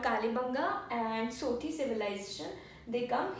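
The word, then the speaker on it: Kalibangan: Kalibanga. Kalibanga. In Hindi we call Kalibanga, and in English the spelling goes as AN in the last. So N is silent in the pronunciation. So Kalibanga and Sothi.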